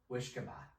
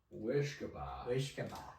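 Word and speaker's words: uisce beatha: Irish Gaelic people, and they had a term for it called Wishkaba. Wishkaba. Oh my. And that is spelled using characters that look like the modern day letters of UISCE for the Irish Gaelic and UISGE for the Scots Gaelic.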